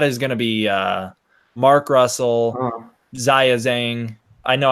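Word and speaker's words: 章子怡: gonna be mark Russell Ziya Zhang I know I always say her name the American Way which upsets some people but I'm not gonna like pronounce it the Chinese way it's gonna be mark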